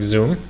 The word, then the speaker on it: Xumo: It's XUMO, but I guess they pronounce it like Zoom.